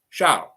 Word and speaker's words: Charles: English, you want to call me Charles? No problem. In French, Charles. That's how you say it.